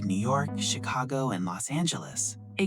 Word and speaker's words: Los Angeles: I'm from Los Angeles. Perfect. Notice the pronunciation. Los Angeles.